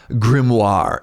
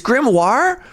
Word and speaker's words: grimoire: How do I pronounce this word? I always want to say grimoir. It's grimoire.